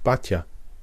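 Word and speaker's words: Baťa: most famous example was Tomas bataa usually pronounced Bata in English the shoe magnate who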